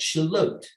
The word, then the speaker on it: Shallotte: It in itself is a mispronunciation of Charlotte. So the Shallotte River was operated by a Frenchman, and the Frenchman called it Shallotte.